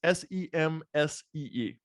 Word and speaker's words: Semsee: I don't know if I'm pronouncing the company correctly. It's Semsee. So that's correct.